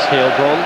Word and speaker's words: Heilbronn: Rob keeps telling me off for pronouncing his surname wrong. But it is Heilbronn.